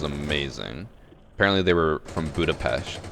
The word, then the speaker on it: Budapest: apparently they were from Budapest Budapest which I think is pronounced budapes they were so [